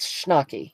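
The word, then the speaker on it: Schnackey: my last name and it's pronounced shnak it rhymes with hockey all right Carla does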